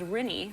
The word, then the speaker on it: Rinnie: And the youngest daughter, her name is Rinnie, rhymes with Minnie Mouse, little Rinnie Olsen.